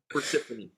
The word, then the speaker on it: Persefone: name wrong i'm gonna i'm gonna do it the portuguese spanish honduran style and i'm going to go with persephone nice fedora nice all